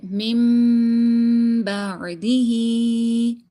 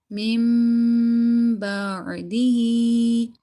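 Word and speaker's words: مِنْ بَعْدِهِ: So we're going to be changing this noon sakin into this small little meme. And it will be read with ghunna.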